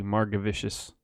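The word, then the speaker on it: Margevicius: vicious nice martyr vicious that's the hard G Marga Vicious I would've said it with Jay I've seen it Marga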